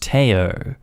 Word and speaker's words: Theo: and have a friend whose child is named theo pronounced teo her husband is not